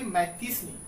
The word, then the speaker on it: Mazzini: One such individual was the Italian revolutionary Giuseppe मैत्तीसनी। कहता है कि इन्हीं क्रांतिकारियों में से एक क्रांतिकारी था जिसका नाम था ज्यूसेपे मैत्तीसनी। देखिए स्पेलिंग लिखा हुआ है MAZZINI, लेकिन इसको पढ़ेंगे मैत्तीसनी। तो कहता है कि इन्हीं